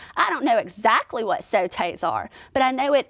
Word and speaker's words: sautés: Yes, sautés. Now this word looks like it would be pronounced like sauces with an aw sound. But in the French language, they would pronounce this with an O sound, sautés.